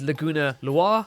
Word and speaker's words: Laguna Loire: I've heard Laguna Loire, I've heard Laguna Lawyer. In Japanese it reads Laguna Reware. Laguna Loire. Loire being a French name, so there you go.